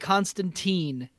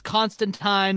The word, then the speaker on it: Constantine: that it's print out it's constantine rhymes with time or whatever and then